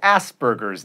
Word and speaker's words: Asperger's: And it's Asperger's. There is no B in there.